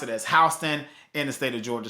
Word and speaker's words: Houston: Houston Georgia it is spelled Houston but we pronounce it as Houston in the state of Georgia so it's one